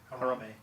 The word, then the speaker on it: Harambe: Harambe.